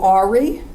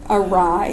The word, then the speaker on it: awry: When things go wrong, they always go Ari, right? Awry, of course.